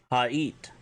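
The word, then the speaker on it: haa'it: If you want to say the words truth, honor, vision, truth is hot, spelled H-A-A-T, honor, ija, spelled I-J-A-A, and vision, ha'it, which is H-A-A, beten, or apostrophe, I-T.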